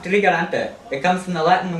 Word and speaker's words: Trigarante: Vianna, it's pronounced trigarante.